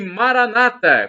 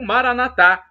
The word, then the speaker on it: Maranata: bem ele proverá ele Maranata como dizem nossos irmãos evangélicos ou protestantes ou Maranatha como dizemos nós católicos com a tônica na última sílaba os protestantes com a tônica na penúltima importa o significado é